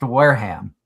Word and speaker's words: Wareham: It's pronounced Wareham, but I've heard people call it Wareham. Yeah, Wareham. And I've heard it called Wareham. So it's like Wareham or where I'm like, where do you get hum from?